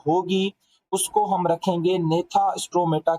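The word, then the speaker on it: Gnathostomata: उसे कहा जाता है नेता स्टोमाटा इसमें जो बेटा जी है ना ये दोनों के अंदर साइलेंट है अच्छा अगर हम इसको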